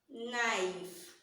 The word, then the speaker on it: knife: That means K is silent. So now this will give us what? Let's start from here and read together. Let's say it together. Knife, knife, knife, knife.